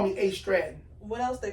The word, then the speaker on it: AStratton: So I tell them it's AStratton. So what do people call you? AStratton. Most people call me AStratton.